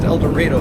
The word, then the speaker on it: El Dorado: through a town called elor not El Dorado pronounced eloro they told me and they have a number